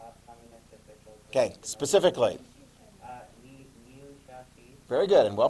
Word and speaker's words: Liu Shaoqi: Liu Shaoqi. Very good, and well pronounced too.